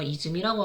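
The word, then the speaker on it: 泉: 샘을 이제 일본어 이즈미라고 하거든요. 이즈미. 훈독이 이즈미입니다.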